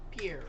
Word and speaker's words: Pierre: So, this is going to be a little bit I'm gonna get the connect correct uh pronunciation Pierre.